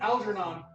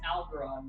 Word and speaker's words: Algernon: This is a really Algernon. I knew you was like this. Wow, there's no hesitation. Algernon. You have that loaded. Nope, it's Algeron now. No, Algernon. Algeron. No. How do you spell it?